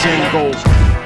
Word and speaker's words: Django: But the D is silent, Django.